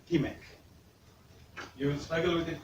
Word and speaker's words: TMEIC: It's a big word, but we just pronounce it as Tmeic.